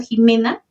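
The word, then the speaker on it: Ximena: Por ejemplo, Jimena, cuando se pronuncia como J, se representa con una X.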